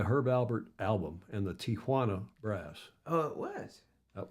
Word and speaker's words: Tijuana: Tijuana. Tijuana. Yep. Tijuana. Tijuana. Yeah. There's no TIA. No. Which means aunt, or Tio is uncle, tant is Tia, aunt Tia. There is no A in that first syllable.